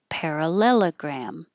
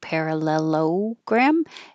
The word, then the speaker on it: parallelogram: with a request for parallelogram. You won't hear this O as an O because it's not stressed. So it won't sound like parallelogram.